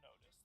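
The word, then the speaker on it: NOTUS: Follow and watch On Notice, that's spelled N-O-T-U-S, on Spotify.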